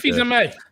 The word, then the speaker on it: Fils-Aimé: Reggie, whatever his last name is, because I never pronounce it. Fils-Aimé.